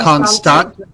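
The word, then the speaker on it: Constanța: that Steve open that constant how do you say that second Constantinople is what that is that's turkey so the T with it sounds like T this is Romania constan in Romania sounds TS we need a a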